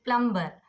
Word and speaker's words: plumber: So whenever you get B before M, so you have to become silent with the B.